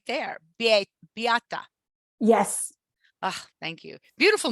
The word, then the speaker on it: Beata: I was looking for the pronunciation that you put on our rap sheet. I'm like, oh, it's right there. Beata.